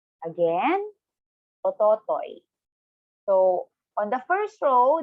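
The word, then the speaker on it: おととい: So for the day, when you say the day before yesterday, in Japanese, it's ototoi. Again, ototoi.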